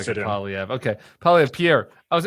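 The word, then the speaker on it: Poilievre: I always going to say his name around, Polyev. Everybody just calls him Pierre, though. You can just call him Doesn't really Pierre. look You'll like a fit in. Polyev.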